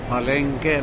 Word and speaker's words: Palenque: ako ngayon sa palengke no pronounce po ito as palengke no parang market so katabi po siya ng